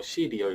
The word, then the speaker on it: 씨리얼: 뭐 발음은 시리얼, 먹는 그런 이름인데 이게 시 이제 보다의 리얼, 진짜 뭐 시리얼 이렇게 뭐 합쳐진 그런 홈페이지 사이트 이름입니다.